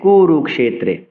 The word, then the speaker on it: কুরুক্ষেত্রে: অর্থাৎ ক আর মদিনা সুযোগে যেহেতু এই যুক্তাক্ষরটি হচ্ছে ফলে ক এবং মদিনা সকে স্বতন্ত্র উচ্চারণ করতে হবে স উচ্চারণ করতে হবে এবং বলতে হবে ধর্মত্রে কুরুক্ষেত্রে ক্ষেত্রে ক্ষেত্রে নয় এ নয় এই ধর্মত্রে কুরুক্ষেত্রে